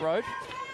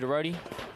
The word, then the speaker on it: Rhodey: Pronounced Rhodey, not Road.